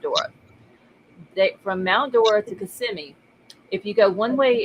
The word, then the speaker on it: Kissimmee: am I saying it wrong? Kissimmee? It's Kissimmee. Oh, I'm saying Kissy Me.